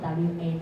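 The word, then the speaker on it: は: 2 个假名，它在当助词的时候，它的发音会跟原来假名发音不一样这个是其一，叫做哇，念作 WA 的哇，这样知道吗？不要念哈了那这个呢，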